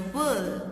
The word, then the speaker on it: whirl: But today his head was in a whirl. R is silent here.